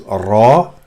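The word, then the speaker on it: راء: This is just like R. So, but it's a full mouth sound. You just don't say ra. Simply saying ra is argued, but you have to say it with full mouth, like raw, as in the word raw, R-A-W in English.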